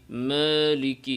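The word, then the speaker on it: مَالِكِ: একটি শব্দ দেখেন মালিকি অনেকে এভাবে মুখ না খুলে মালিকি মালিকি এভাবে বলে থাকে মুখ খুলতে হবে মালিকি মালিকি মালিকি মালিকি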